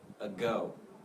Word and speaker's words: ago: This word is ago, ago, ago. So go is stressed, and is just very, very quick.